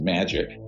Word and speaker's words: Majic: the majority intelligence committee Majic is pronounced magic ironically or not ironically